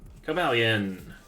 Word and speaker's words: Cobalion: Cobalion is definitely wrong. Say it like Medallion.